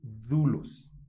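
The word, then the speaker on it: δοῦλος: siervo significa esclavo y su pronunciación en griego es dulos.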